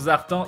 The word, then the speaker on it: Zartan: Sinon, mon pseudo se prononce Zartan, sinon.